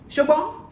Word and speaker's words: Shobo: Shobo, that's how they say it in Yoruba. Shobo, you hear that?